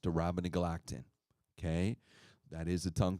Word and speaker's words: Arabinogalactin: then you have this long-sounding name, and it's pronounced Durabonagalactin, okay? That is a tongue twister, right? But just think abracadabra, but no, Arabinogalactin.